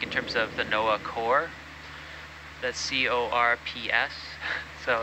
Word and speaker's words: corps: Is that different from the corps, the NOAA corps? It's the same. How you pronounce it, yeah, corps.